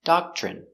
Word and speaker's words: doctrine: next we have Doctrine remember pronunciation in Doctrine Doctrine the nuns follow a